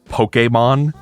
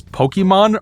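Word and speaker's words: Pokémon: these commercials pronounce it Pokemon because I know that's how it's actually supposed to be pronounced because there's an accent on the E but nobody I have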